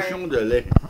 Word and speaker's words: Cochon de Lait: You got to pronounce it right. Sorry. Cochon de Lait.